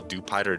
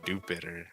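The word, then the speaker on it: Dewpider: much cuz like bro we call it Dupider cuz it's like a dup spider. So like surely it's a dupider not dupeter.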